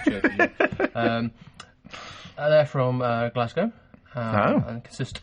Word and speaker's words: CHVRCHES: u yes um not spelled with a V at the C but yeah no which I think was is that Latino or Roman it's probably still churches isn't it it is churches um they're from Glasgow